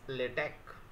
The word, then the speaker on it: LaTeX: from tau epsilon KY the last word is not X it is Chi for ki even though latex should be pronounced as latech learning objective how to